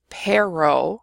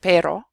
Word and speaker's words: pero: So for example, if you say pero instead of pero, nobody's going to confuse what you're saying.